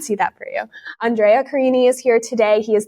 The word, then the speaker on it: Carini: Carini, yes, Carini. you did it right. Yeah, it sounds like martini.